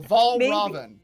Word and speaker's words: Valraven: Both A's are the ah sound. So Valraven. Valraven.